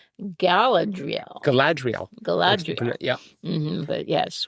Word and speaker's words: Galadriel: Because we were thinking, it's Gadriel. No, I think it's Galdriel. We were pronouncing it all differently, and all we could really agree on was it began with a G and it ended with an EL, but we didn't even know how to spell that. But it was Galadriel.